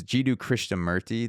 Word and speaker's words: Jiddu Krishnamurti: I wanted to go back to jeu it's jidu chrisha merty that's how you pronounce it or John Christa merty yeah yeah so his so you texted me